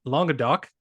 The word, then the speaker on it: Languedoc: with myself today um his name is Sean longa do um pronounced that correctly I believe you got it